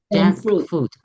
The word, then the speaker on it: junk food: Junk food. Junk. You need to emphasize the K sound.